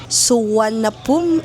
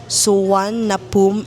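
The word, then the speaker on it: Suvarnabhumi: Yung airport kung saan kami mag-arrive is sa Suanapum airport. Yun daw iyung basa doon pero ang spelling niya is parang Suvar na boomi. You can pronounce it as Suan na pum airport.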